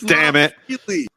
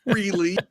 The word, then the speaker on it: Frehley: We pronounce Ace's name right on this show, kids. It's Frehley. It's not Freely.